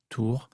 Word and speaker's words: Tours: Yesterday I gave a presentation at, there's a little preaching center / restaurant in a city called Tours, Tours, Tours. You don't pronounce the S.